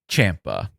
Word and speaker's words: Ciampa: Tommaso Ciampa rhymes with Tampa.